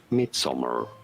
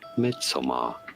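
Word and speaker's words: Midsommar: yeah additional money pronounced Midsummer mid-summer in American English or midsomar in British English and now you know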